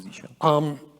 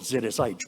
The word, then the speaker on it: zsh: So resources for switching from Bash to Z shell. All the scripts you saw run on Z shell. I used to call it ZSH, but I looked at the documentation. We should pronounce it Z shell.